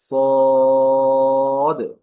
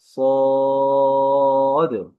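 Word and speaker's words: صاد: ক্লাসে আমরা যে হরফটি পড়েছিলাম সেই হরফটি ছিল সদ। এই হরফটির নাম ছিল সদ। তো এই হরফের উচ্চারণটা কেমন ছিল যেটি আলোচনা হয়েছে সেটি ইংরেজিতে সি এর মতো উচ্চারণ হয়, তবে আওয়াজটা একটু মোটা হয়।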